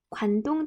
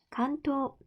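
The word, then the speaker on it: 関東: 자, 일단 대표적인 큰 지진부터 살펴보면 먼저 관동 대지진, 그러니까 우리나라식으로 발음하면 관동인데 일본식으로 발음하면 간토 대지진이라고 해요.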